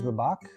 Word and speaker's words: Babak: My name is Babak. Hopefully I said that right. You sounded just how a Persian would pronounce it.